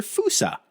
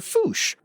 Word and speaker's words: fossa: And I'm talking, of course, about the fossa or fusa or foosh, all of which are proper names for the largest predator in Madagascar.